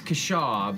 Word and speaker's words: Kashaw: Cashew? Those things are Depends who fishes in you real ask. life. It's Kashaw, but everyone Kashaw. says Kashaw I'm or gonna say Cashew or Kashaw.